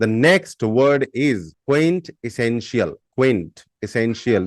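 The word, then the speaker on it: quintessential: कर रही थी okay the next word is Quint एसेंशियल Quint एसेंशियल the spelling is क्यू यू आई एन टी ई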